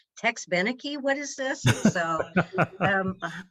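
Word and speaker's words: Tex Beneke: call my dad and go how do you pronounce his name it's tex benneke what is this so um i worked at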